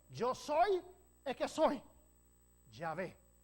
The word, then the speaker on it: Yahvé: Tiene 4 consonantes y nosotros pensamos que se describe Yahvé. En otras traducciones incorrectamente lo dice Jehová, pero es Yahvé, el nombre de Dios. Yo soy el que soy, Yahvé.